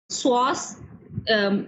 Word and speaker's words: psoas: इसमें मसल्स आते हैं पेक्टिनियस, इलियाकस, psoas major, psoas minor and sartorius। psoas word है, p इसमें साइलेंट है, ठीक है।